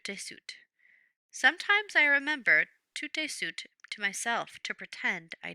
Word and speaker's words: tout de suite: Brother Quang remembers Father often said, "Tius tu sut," the Vietnamese way to pronounce the French phrase tout de suite, meaning right away.